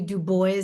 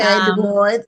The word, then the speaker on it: Dubois: Dubo, are you related to Web Dubo? I am not, but he is my namesake, so I like to pronounce my name the way he pronounced his.